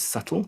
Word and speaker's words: subtle: letters whistle right subtle so the b is subtle in subtle and then consonant clusters